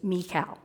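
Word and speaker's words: מיכאל: those teams named Michael in Hebrew you would pronounce his name as mikal and he would genuinely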